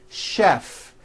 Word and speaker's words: chef: of words that are spelled with ch and are also pronounced with the SH sound words like chef and the city of